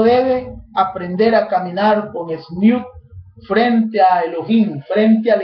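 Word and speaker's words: tzniut: La palabra humildad en hebreo es una de las palabras que significan humildad, es la palabra sniut. Sniut se escribe, para los que toman apuntes, T-Z-N-I-U-T, sniut.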